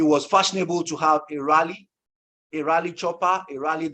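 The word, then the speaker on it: Raleigh: young and it was fashionable to have a rally a rally Chopper he rallied this or that now it's it's spelled r-a-l-e-i-g-h I'm pronounced rally but if you put another word r-a-w-l-y ear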